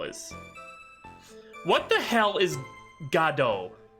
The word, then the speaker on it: Godot: Despite this, the name is often pronounced Jido in the United States, as is the case in the English dub of the anime adaptation. In Japanese, the name is pronounced Godo, which is also the case for the Ace Attorney character.